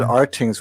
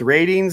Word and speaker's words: RTINGS: Maybe if I didn't pronounce it Rtings, we would have had more. Yeah, now we all know it's ratings and not Rtings, so no one's going to say that anymore.